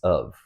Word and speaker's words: have: Have will be pronounced as of.